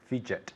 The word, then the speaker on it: fidget: j in english it fidget good fidget so i say stop fidgeting right your mother tells you ah stop fidgeting stop fidgeting okay careful with that pronunciation the dg sounds like a j very good the second